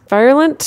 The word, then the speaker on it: virulent: Some synonyms include virulent. Yeah, I've never known quite how to pronounce that. Virulent? It's like virile. No, not like virile. No. Like a virus. Like a virus. Yes. Virulent.